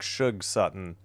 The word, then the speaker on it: Shug Sutton: S-U-G is short for sugar, so it's like Shug Sutton until somebody pointed it out in yesterday's game.